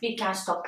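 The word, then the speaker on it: Birkenstock: stok birken stok Can Bu nasıl okunuyordu birken stok Can birken ST birken stok evet birken stock diye okunuyormuş duyduğunuz gibi ben bu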